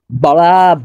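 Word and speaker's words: بڑا: এখানে রে এর উচ্চারণটা একটু মোটা করে করতে হবে, বড়া বড়া হায় বড়া হায়।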